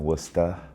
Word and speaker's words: Worcester: I gotta say it like that because that's the accent, Worcester.